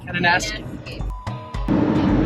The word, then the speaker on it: Kananaskis: How do you pronounce it? It's very abridged. Kananaskis.